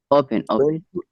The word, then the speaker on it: open: I think create open that's open because create the second one is stressed like remote like depend but but when it comes to open say open we do not say open yeah sound yes